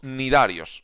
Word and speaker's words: cnidarios: Por lo tanto, vamos con los nidarios. Se escribe cnidarios, la Z, sí, la Z. La C no se lee, son los nidarios, que básicamente son las